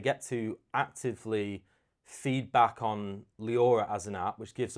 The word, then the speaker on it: Liaura: It's it's Leora. You say it correctly. Yeah. Leora. Yeah. Leora. Yeah. But people say like Liora. Um, on BBC radio they said Lower or something.